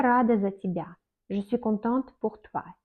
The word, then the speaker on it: тебя: Par exemple, Я рада за тебя. Je suis contente pour toi. Тебя, on écrit Y, mais on prononce comme I.